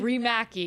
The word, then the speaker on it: Riihimaki: very special guest what how do you pronounce your last name raki remaki I know it's a trip AKA